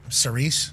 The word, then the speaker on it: Cerise: Get those Saris chocolates. Saris, yeah. Yep. Cerise. It still blows my mind that's how it's pronounced.